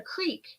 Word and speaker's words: creek: But like some people, it's a creek. A creek. And they spell it as creek, but they call it a crick.